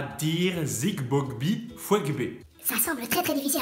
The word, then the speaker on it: Zigbogbi Fouegbe: Tout le secret de la prononciation de ce nom, c'est dans les G qui sautent comme ça.